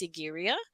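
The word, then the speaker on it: Sigiriya: of this place is and I may not pronounce this correctly but it's sigara and it was built by King casapa who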